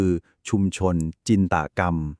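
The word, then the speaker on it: ชุมชนจินตกรรม: หมด ชุม ชน จินตนาการ คำ นี้ ใน ภาษา ไทย ออก เสียง ให้ ถูก คือ ชุม ชน จินตกรรม นะ ครับ จินตกรรม คือ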